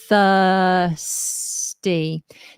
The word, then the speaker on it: thirsty: I'm a voiceless th thirsty now we do not pronounce the r in the word thirsty oh that didn't post